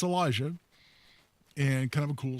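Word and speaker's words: Elisjsha: I always think of it as Ellis J. Shaw, which is how you're tempted to pronounce it, but it's Elijah.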